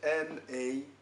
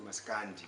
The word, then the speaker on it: Maskanda: And it's spelled M-A-S-K-A-N-D-A, Maskanda. Some people say Maskandi, they put an I at the end.